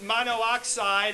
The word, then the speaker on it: monoxide: drop that extra O, because if you didn't, it would be monoxide, and that just sounds funny. Okay? Because that's what double O makes, right? Ooh, right? Monoxide.